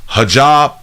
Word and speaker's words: hijab: opinion both women say there is no it's pronounced hijab hijab oh hijab all right cool bam I want to be